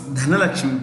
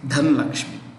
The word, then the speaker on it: Dhanlakshmi: I found that it's Dhanlakshmi. Normally we say Dhanalakshmi, especially in the south we say Dhanalakshmi. It's actually Dhanlakshmi.